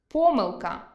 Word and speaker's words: помилка: Наприклад, алфАвіт – алфавІт,веснЯний – веснянИй,зАвжди – завждИ,зокрЕма – зокремА мАбуть – мабУть, пОмилка – помИлка, тАкож – такОж, яснИй – Ясний Будьте пильними: інколи зміна наголосу призводить до зміни значення слова.